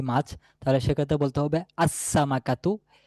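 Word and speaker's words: السمكة: তাহলে যদি আমি বলতে চাই মাছটি নির্দিষ্ট একটি মাছ তাহলে সেক্ষেত্রে বলতে হবে আসসামাকাতু এ মাছটি এখানে লামের কোন উচ্চারণ আসবে না তারপরে দেখেনশিন দিয়ে হচ্ছে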